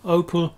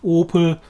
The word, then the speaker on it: Opel: I think there's no real problem pronouncing Opel. Opel, Opel, different O. But to this day, certainly in the UK, Opel cars are marketed as Vauxhall. So it's not Opel Corsa, it's Vauxhall Corsa.